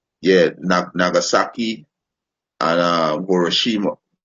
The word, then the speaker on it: Hiroshima: atomic bomb on Yomashi or Nagasaki and um Homashi Salakia. I ain't pronounce the name properly.